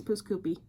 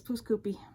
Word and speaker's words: Pouce Coupe: It's pouce coupe. It's written in French. Yes. It should be pronounced in French. Yeah. Nope. It's pouce coupe. Which sounds like poopy scoopy to me.